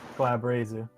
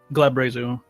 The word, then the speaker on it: Glabrezu: Glabrazu. Glabrezu.